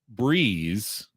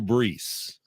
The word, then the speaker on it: Brees: I heard someone tell me yesterday, and I don't know if this is true. Drew Brees. It's actually Drew Brees. Shut your mouth. People started saying Brees, and they just went with it.